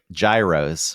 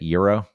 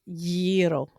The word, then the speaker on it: gyros: Oh yeah, there were the gyros, which I know is not how you pronounce it. Uh-huh. What is it? Gyro?